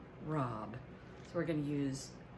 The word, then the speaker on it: rabe: this broccoli rob and it's not rabe it's spelled r-a-b-e but it's pronounced rob so we're going to